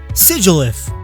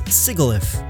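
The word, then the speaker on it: Sigilyph: Sigilif. A sigil is a symbol, sometimes with magical powers. That's kinda what Sigilif looks like. And again, modern English wouldn't have it pronounced as Sigilif.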